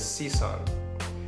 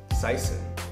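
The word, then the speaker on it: Sison: my last name is cisson but at school my last name began began to be pronounced cyon because it was an easier you know American pronunciation of the name for maybe about 15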